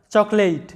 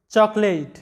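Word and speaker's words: chocolate: এখানে ওটা সাইলেন্ট থাকবে, স্পেলিংয়ে ওটা থাকলেও উচ্চারণের সময় সাইলেন্ট আছে, তাই সি এইচ ও সি, চক, এল এই টি ই, লেট, এরকম হবে আমাদের উচ্চারণটা, চকলেট, চকলেট।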